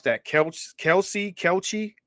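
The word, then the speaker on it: Kelce: is uh Travis I don't know how to pronounce that couch Kelsey Kelsey Kelsey right Kelsey right so Travis Kelsey right so Travis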